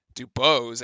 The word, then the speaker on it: Dubois: Dubois, actually, should be the correct pronunciation, gets 3, and so he's 8-5.